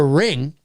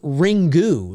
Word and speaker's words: Ringu: believe uh it's spelled ringu like ringu but I think I learned somewhere not long ago that it's all it's actually just pronounced ring um I believe I stand